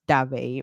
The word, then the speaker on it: Dave: yeah I okay so your last name actually pronounced as dve right that's right but yeah as you